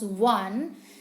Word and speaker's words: one: eyed W one eyed when we pronounce one we there is a hint of w one eyed so V